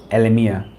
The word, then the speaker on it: Elimia: So as I go to Elimia, which is how you pronounce this, Elimia.